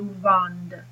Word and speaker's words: vendent: vendons, vous vendez, ils vendent. So how do you tell an il singular and an il plural? Well, you tell by pronunciation. So il vend is singular, ils vendent with the D is plural.